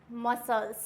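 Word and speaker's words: muscle: है डिसिप्लिन क्या होगा डिसिप्लिन नेक्स्ट आता है मसल क्या होता है मसल्स उसके बाद आएगा सीन यहां पर सी क्या है साइलेंट ओनली एस प्रोनाउंस है तो यहां पर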